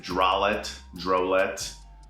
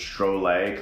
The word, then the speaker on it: Drolet: A lot of people pronounce it Drolet, but it's Drolet, kind of like Chevrolet, minus the Chev, plus a duh.